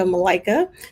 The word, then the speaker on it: Malaika: i am melika that's uh that's as in i like a malaika so um thank you